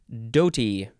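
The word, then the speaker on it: dhoti: a d-hole it's a doll the next word Doty d-h-o-t-i noun from 1612.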